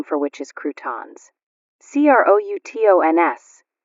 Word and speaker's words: croutons: C r o u t o ns accent on the last syllable.